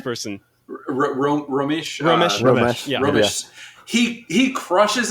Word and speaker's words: Romesh: Romesh.